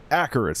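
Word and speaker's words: Acherus: Acheris, that's how you say it.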